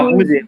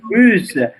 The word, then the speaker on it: russe: Jadi kemarin kita juga belajar ada prononciation identique, c'est belge. Monsieur tunjukkan lagi yang mana? Belge. Belge. Rose. Rosé. C'est pas rusé, russe, russe.